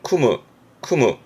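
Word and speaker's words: 酌む: 발음은 쿠무.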